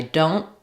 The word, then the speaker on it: don't: The N is going to be short and you won't really hear that T. If I say it by itself, I don't I don't then I can use the T. But typically we use what's called a stopped or unreleased T here.